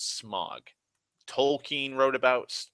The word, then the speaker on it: Smaug: like Sauron smog like the AU has its own different pronunciations depending on what the letter is that follows it anyways so I I